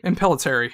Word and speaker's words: Impellitteri: I never know how to pronounce his last name. Impellitteri, yes.